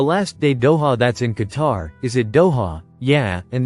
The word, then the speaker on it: Qatar: In Qatar, and it is Qatar, not Cutter. We've been over that, you guys. There are people on Even Newsmax, and definitely people on One America News that aren't pronouncing it right.